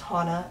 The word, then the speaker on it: Hana: gonna say it now it's Hana and the reason I'm saying that is because I'll meet people and they'll say Hana which I'm totally okay with if you mispronounce my name don't like think that it's a big deal it's not I think like 70% of the people that know me is call me Hana and I've corrected them